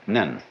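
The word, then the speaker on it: 忍: they have a very interesting sign this it's pronounced in japanese nin and the top part of the character uh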